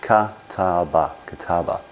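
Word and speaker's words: 片刃: But that's the kataba, pronounced kataba, and that means cuts one side.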